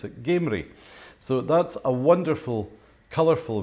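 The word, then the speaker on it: Gamrie: and although it says gardens down the locals pronounce it gamery so that's a wonderful colorful view of gamery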